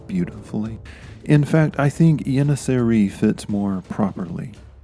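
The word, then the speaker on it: Yeniçeri: roll off your tongue if you're feeling brave you can use the Turkish pronunciation yeri doesn't that just roll off the tongue beautifully in fact I think yeri fits more properly it's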